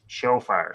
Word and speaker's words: Tzofar: So Shofar is how they say it.